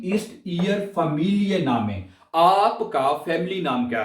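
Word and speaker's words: Familienname: कहेंगे we east year family नामे, आपका family नाम क्या है, ठीक है। बाज ना ये सही लफ्ज नहीं प्रोनाउंस करते, इसको आप दो हिस्सों में पढ़ेंगे।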